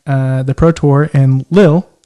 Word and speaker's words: Lille: the pro tour and lil is how you say it you were there i believe so lil perfect awesome uh lil